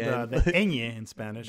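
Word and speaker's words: Peña: So it starred Michael Pena, who Pena. Oh, Pena. Well, it has that little thing on the top of the end. It's called the Pena in Spanish. It's Pena. like piñata. Piñata.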